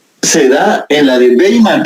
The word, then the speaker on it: Weimar: da en la de Weimar, pero se escribe Weimar, se escribe con W, ¿oyeron?